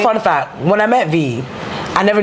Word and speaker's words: Vee: met V, I never knew it was VI. I thought it was VEA. Yeah. I always thought it was VEA, and then I think one day I looked at her bio and it said pronounced VI. Yeah. And I was like, wait, like Victoria Island?